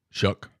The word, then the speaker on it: Shough: I think it's Shuck. Not shock or show. Or Shock. Shock. Shock. Shock, not Shuck. Shock. So SHOUGH is Shock. Or Shuck.